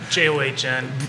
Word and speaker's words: John: Last name, John. John. But I don't blame you. It's John.